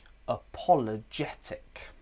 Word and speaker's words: apologetic: And can you hear the uh at the beginning? It's weak. It's a schwah.